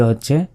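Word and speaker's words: ه: এটা হচ্ছে হা, হা, হয় আকারে হা, শুধু বাংলার হয় আকারে হা, এই অক্ষরটি উচ্চারণ হয় আকারে হা। আর এটার উচ্চারণ কিন্তু বাংলা দিয়ে মানে লেখা সম্ভব নয়, এটার উচ্চারণটাই আলাদা, হ্যাঁ, হ্যাঁ।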